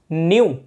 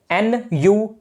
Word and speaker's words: nu: यह सिंबल होता है न्यू का, न्यू, NU, न्यू।